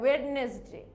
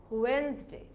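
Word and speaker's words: Wednesday: তারপরে দেখো অনেকে এটাকে কিভাবে উচ্চারণ করে, ওয়েডনেসডে. কারণ ওয়েড, WED, ওয়েড, পরে NES, নেস, তারপরে DAY ডে, আমরা কি বলি? ওয়েডনেসডে. কিন্তু এটাও কিন্তু ভুল, আমাদের এটার উচ্চারণটা হবে ওয়েনসডে.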